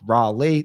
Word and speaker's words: Raleigh: Rae, I think of Lee from my team in Connecticut runs sales. I think Lee. I think Raleigh. That's how I do it. Okay, that's how I speak correctly. Raleigh coming in at the third spot.